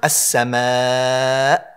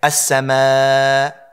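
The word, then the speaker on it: السماء: ayah and you stop, people sometimes will take away the sound. They'll just say, as-samaa. Notice how you didn't hear the Hamza from my throat come out at all.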